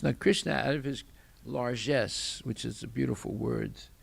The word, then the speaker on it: largesse: krishna out of his largesse which is a beautiful word it's a french word but it it's it came into the english language and it's pronounced in the french way uh l-a-r-g-e-s-sc you can